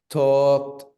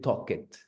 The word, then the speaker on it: talked: Talked, watched is only with t sound, ¿no? Talked, watched. No podemos decir talk it. Yeah. Recuerden que la L no se pronuncia aquí.